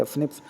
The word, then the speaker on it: SNPs: Scientists have identified about 1.4 million locations where the single base DNA differences of SNP, single nucleotide polymorphism, pronounced as the SNPs, occur in the human.